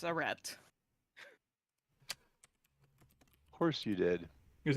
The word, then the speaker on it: arete: I looked up the pronunciation. It's arete.